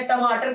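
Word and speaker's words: tomato: हाँ जी, अमेरिका में टमेटो बोलते हैं, ब्रिटेन में टमाटो बोलते हैं, टमाटो कहीं नहीं बोलते हैं।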